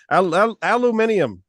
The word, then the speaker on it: Aluminium: I've had a hard time pronouncing that name. Aluminium.